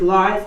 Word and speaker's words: Lars: It's your boy Lars.